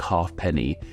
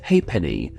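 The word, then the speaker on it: halfpenny: not actually said like half penny is instead pronounced as hey Penny which is actually a rare case of a silent F something that doesn't happen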